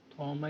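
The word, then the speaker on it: Thomae: सो लेट me introduce a new function to यू दैट is called थॉमे function. थॉमा is function, थॉमे बोलते हैं mostly, S silent बोलते हैं।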